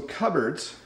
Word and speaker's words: cupboards: So cupboards, notice it's not pronounced the way it looks.